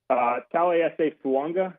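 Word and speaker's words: Taliese Fuaga: Talese Fuanga, which that's a name that if you're trying to figure out how to say it, that is how it's said. I asked him.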